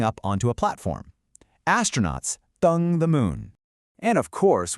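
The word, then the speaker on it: 登: The character for this amazing action is dēng, pronounced dēng. That's a nice high flat tone.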